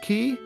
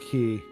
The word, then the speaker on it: quay: found out that, um, Quay Q U A Y is actually pronounced key. It's like in Donkey Kong, there was like it was like called like something quay, but it's actually pronounced key.